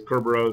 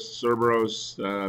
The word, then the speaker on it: Kerberos: Um, I've heard it pronounced a bunch of different ways. Kerberos, Cerberus, usually on Microsoft videos that you'll go and watch on Microsoft Online. You'll hear it called Kerberos.